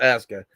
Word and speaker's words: Aska: It says I usually say Asuka. I know it's pronounced Aska.